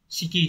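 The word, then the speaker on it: 色: là cái chữ sắc sẽ đọc là Shiki chứ không đọc là iro nhá iro là âm C yomi câu số 4 này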